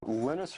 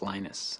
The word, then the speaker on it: Linus: lenus Torvalds came along lenus or Linus what's the exact your preferred pronunciation um when I speak Swedish it's lenus when I speak Finnish it's lenus when I speak English it's lonus and I really don't